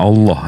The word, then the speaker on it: Allah: kan iya iya nah kalau double l dalam eh kaidah bahasa tuh kan Bang Allah bukan Allah kalau Allah tuh L sat sama seperti kalau dalam bahasa Inggris itu prepositions karena es2 kita bacanya prepositions sama seperti a l l ah h double l itu kita bacanya ditekan Allah nah jadi kalau abang